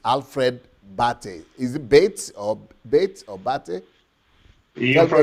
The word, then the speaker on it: Bates: Is it Bates or Bate? You Tell me again. pronounce it right. Foolish you. You pronounce it right. It's Bati, but in the Bate.